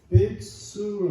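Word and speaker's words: בית צור: 이 벳술, 이스라엘 말로 발음을 한다고 할 것 같으면 베이트술 하는 말인데, 이 베이트라는 말은 집이라는 말, 출이라는 말은 반석이라는 뜻으로 말해지고 있어요.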